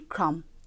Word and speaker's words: crumb: For example, in crumb, the B remains silent, but it makes itself heard in crumble.